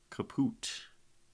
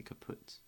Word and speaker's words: kaput: maybe when we're gone we go kapoot I guess to rhyme with absolute I say kaput either way kaput silly rhyme silly